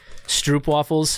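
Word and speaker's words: stroopwafel: So it's like Stroop waffles have a bunch of honey inside, and they're covered in chocolate.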